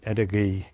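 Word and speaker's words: Edaggee: Edinburgh. It's spelled E-D-G, no, E-D-A-G-G-E.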